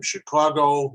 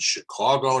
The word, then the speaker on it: Chicago: the crc comes from chicago my hometown and you notice i said chicago not chicago it's chicago i lived there for most of my life so i should know how to pronounce it let's agree about that